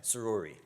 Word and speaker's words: Soroory: Soroory. Soroory. Yeah, perfect. Soroory. I like it. People have problems Bobby pronouncing that.